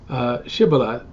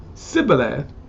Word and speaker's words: Shibboleth: If he answered no, they told him, please say Shibboleth. If he said Sibboleth, because he could not pronounce it correctly, they seized him and killed him at the fords of the Jordan.